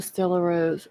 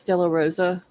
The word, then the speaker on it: Stella Rosa: see I moved on the Stella Rose it's Stella Rosa oh strawberry Hill's only